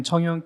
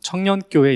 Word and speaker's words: 청연: 예 안녕하세요 경기도 하남시에 있는 청연 교회에서 목회하는 임대용 목사라고 합니다 만나서 반갑습니다 어 저희 교회는 청연 교회인데요 좀 된 발음으로 발음하시는 분들은 청년교회 이렇게 발음도 하세요 그래서 그 그 말을들은 분들은